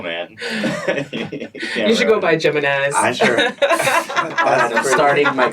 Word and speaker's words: Jimenez: Yeah, and I get it, because my first name I pronounce the J, but the second one is Mexican. Yeah, curveball. Jimenez. It's not Jimenez. I've gotten that too.